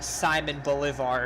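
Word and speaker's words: Simón Bolívar: well there's your answer Simone Bolivar we're just simon bullet simon Bulevar if you just want to pronounce it in English so if we were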